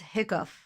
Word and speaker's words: hiccup: What's hiccup? Hiccup. or cough. Hiccup has the sound of cup. Cup. Hiccup has the sound of cup. It says cup.